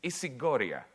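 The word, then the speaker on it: ισηγορία: I'll pronounce it in Greek. It's isigoria.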